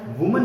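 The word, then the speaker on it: women: मैंने कहा विमेन, ध्यान देना, सब लिंगुअल जवाब कीजिए, विमेन, वी विमेन मतलब महिलाएं, एक से ज्यादा। तो प्रोनाउंसिएशन पे बहुत ध्यान देना बेटा, मैन मिन, मैन मिन, वुमेन विमेन, वुमेन विमेन।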